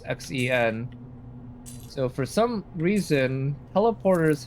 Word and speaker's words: Xen: portal to a other world called Zen, spelled with an X, Xen.